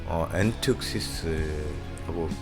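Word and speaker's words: ἔντευξις: 도고는 헬라어로 엔특시스라고 이제 발음하는데 약간 좀 다를 수도 있습니다.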